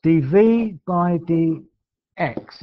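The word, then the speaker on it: dv/dx: is written like this DV by DX is how you say it DV by DX and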